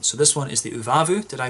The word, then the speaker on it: Uvavu: we get on so this one is the uvavu did i pronounce that right yeah uvavu a black sour double ipa with raspberry vanilla